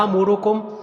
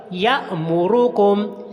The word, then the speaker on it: یأمرکم: یا کو لمبا نہیں کرنا، یا امرکم نہیں پڑھنا، یہ غلط ہے بلکہ حمزہ کو جھٹکے کے ساتھ ادا کرتے ہیں. تو صحیح تلفظ کیسے ہوگا؟ یأمرکم، یأمرکم ان تذبحوا، ان